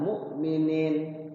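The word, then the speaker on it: مؤمنين: Misalnya mu'minin, mu'minin. Kan dibacanya itu cuma 2 ketukan, mu'minin, mu'minin. Ni-nya panjang, ada ya-nya, ada mad tabi'inya.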